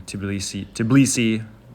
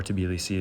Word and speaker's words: Tbilisi: So just to give a little contrast here with the smaller village, I thought starting in Tbilisi, which is what most people call it, or Tbilisi is how it's said in Kartuli, to provide a contrast.